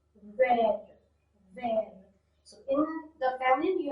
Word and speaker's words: vert: Vert, vert. Notice T is a consonant, so no need to pronounce it. Vert, vert.